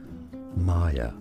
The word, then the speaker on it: Maya: learn more correct pronunciations Maya is how it said in English generally Maya in other languages it may be said as Maya but in English Maya and now you know